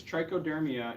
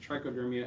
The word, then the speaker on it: Trichoderma: out some forms of the mold there is Trichoderma in this jar and Trichoderma and these so I'll pass the trunk this